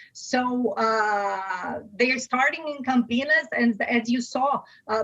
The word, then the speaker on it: Campinas: oxo and ampm seem to focus on the campinas is that how to pronounce it area of sao paulo yes yes